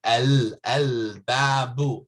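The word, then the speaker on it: الباب: You can see al-babu. I'm pronouncing the lam.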